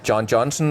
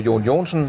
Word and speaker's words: John Johnson: as well well then my name is uh John Johnson or yon jonsson if uh anybody can pronounce it in Danish but uh I'm the